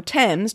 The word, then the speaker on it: Thames: be exceptions to this hopefully we all know thames does not rhyme with james but when i hear